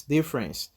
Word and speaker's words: difference: Difference, difference, difference, difference. You don't say difference, no, difference. E after F, you don't pronounce it.